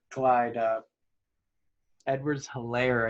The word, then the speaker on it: Clyde Edwards-Helaire: upside, take the optimism and the hype of Clyde Edwards-Helaire, I think is how you say it, not Kamara.